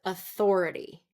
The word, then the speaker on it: authority: So authority is going to be second syllable stress. Sometimes I hear it authority, authority. So third syllable stress, and that would be incorrect. Authority, authority. No, we don't want that. We want authority.